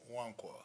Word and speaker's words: Nkwamo: The three that are joining me today are Pete Becker, Jeff Parker, and Evan Nkwamo. I knew I was going to do this. Evans Wankwa. N is silent.